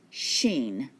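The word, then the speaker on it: ش: And this time it's pronounced sheen. Sheen, like the sh sound in English, sheen.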